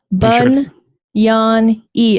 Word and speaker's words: Bagnani: It's not Bagnani or Bagnini, although you could say that, but the G is silent. The G is connected to the N, so it makes an Enya sound. It's Italian.